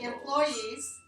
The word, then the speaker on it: employees: you three silver and when I say employees where are the employees where do you hear the stress and gross employees like an employee or your success three one two three three okay so you heard three syllables and you're hearing employees employees okay so your ears